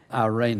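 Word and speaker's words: εἰρήνη: The word peace in the Greek is a little word, irene is a pronunciation of it.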